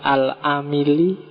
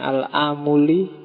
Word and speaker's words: Al-Amili: Kemudian yang kedua Bahauddin Muhammad Al-Amili, ada yang membacanya Al-Amuli.